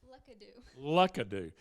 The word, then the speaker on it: Lookadoo: Now we have with us Miss Lookadoo, and that is the correct pronunciation, right? No, tell me what it is. Lookadoo.